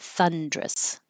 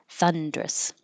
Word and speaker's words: thunderous: irritated irritated th uh this can be three syllables Thunderous or two syllables drop the Earth in the middle and make it thunderous so Thunderous or thunderus strenuous you have no